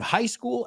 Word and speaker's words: high school: Úneme la H con la S.